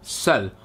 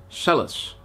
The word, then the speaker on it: Celles: is the town of Celle, or as the Dutch people like to say, Celles. We like to pronounce the S.